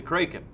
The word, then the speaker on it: Kraken: i have in here called the kraken or kraken depending on how weirdly you like to pronounce things i guess it's technically kraken phonetically but i mean if